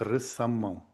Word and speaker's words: récemment: En ce qui concerne de petits inconvénients, Katia, ma parole, oui, et récemment, on prononce récemment.